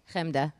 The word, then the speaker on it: Chemda: Chemda. And then now you say it. Chemda. See, it's different. He puts more of a K.